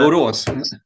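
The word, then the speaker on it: Borås: know, cemetery hailed from is it Boros? Is that how you pronounce that? Boros. Boros.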